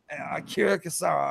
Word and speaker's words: Akira Kurosawa: Okay, now I always get his name wrong, but it's Akira Kurosawa.